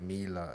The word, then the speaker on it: Mila: George's assuming the word Mila is pronounced Myla. M-Y? You said M-Y-L-A. But Mila Kunis M-I-L-A. is M-I-L-A.